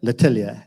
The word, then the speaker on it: L'Atelier: L'Atelier.